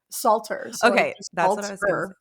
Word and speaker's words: Salter: how do you say your last name Salter yeah and we met each other in Utah